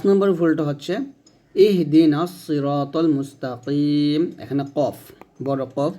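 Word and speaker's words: مستقيم: অর্থ মানে প্রত্যেকটা অক্ষরের উচ্চারণ হরফ উচ্চারণ সঠিকভাবে জানতে হবে পাঁচ নম্বর ভুলটা হচ্ছে ইহদিনাস সিরাতাল মুস্তাকিম এখানে কফ বড় কফ বা আমরা বড় কফ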